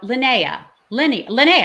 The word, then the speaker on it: Linnea: And I want to tell you about Linnea, I'm saying it right? Yeah, you're Linnea.